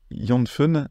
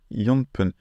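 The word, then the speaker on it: 四分: mais s on va pas dire yon fun mais yonp et voilà bon vous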